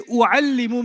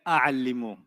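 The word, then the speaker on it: أعلّم: If they say u'allimu means what? I teach. And you say, no, I like a'allimu. A'allimu. No, that's Bahasa, but that's not Arabic.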